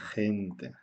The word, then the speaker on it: gente: y con una palabra que utilizamos mucho es gente de gente y el ají con la y